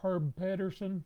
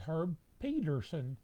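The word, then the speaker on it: Herb Pedersen: some people call him herb patterson some people call him peterson his name is herb peterson even though it has a d in it and herb is a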